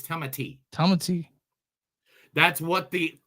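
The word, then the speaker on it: Timothée: existence you what how do you think they pronounce it Timothy Chan it is not Timothy what is it it's TTI Tomy that's what the O the long AE over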